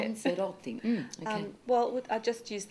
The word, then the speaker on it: Pansarotti: Pansarotti.